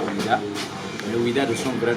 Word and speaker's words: Ouidah: Et le fait de prononcer Ouida, les Portugais ont dit Juda, les Anglais Wapida, les Hollandais, les Danois Ouda, mais les Français ont dit Ouida.